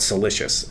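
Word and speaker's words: siliceous: of silica in it we call it celicious as a geologist that rhymes with delicious but it is not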